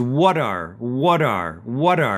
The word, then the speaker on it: what are: Once again, we do a flap T on that what, and it becomes what are. And we can say it much faster that way, what are. It almost sounds like water, but not exactly.